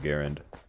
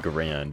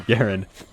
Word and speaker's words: Garand: the M1 Garand and yes it is Garand not Grand or whatever other pronun pronunciation of that name you could possibly find it's definitely guaren like it's literally been fact proven to be Garen cuz it was named after the guy and the guy's name was he pronounced it Garen so he was actually